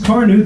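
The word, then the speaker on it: Carnu: with quick polishing Johnson's Car New this week? Car New is spelled C-A-R-N-U.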